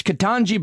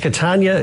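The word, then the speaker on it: Ketanji: spelled her name wrong i continued to mispronounce her name but it's katanji brown jackson here's the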